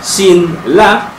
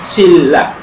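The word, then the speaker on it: 신라: L so Shin ah Shin la is pronounced as shilla so again n becomes L Okay so This is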